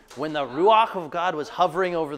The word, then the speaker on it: ruach: pronounce it R it's if you can gargle in the back of your throat you can say that word yeah that's what the